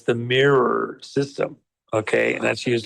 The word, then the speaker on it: Miru: In South Korea, the machine used in their vote systems there is called Miru, but they pronounce it mirror. So it's m i r u. So it's the mirror system.